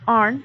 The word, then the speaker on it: horn: Previously we've done the glacial landforms, cirque, hanging valley, horn, that's arn, H is silent, arn, and that reed.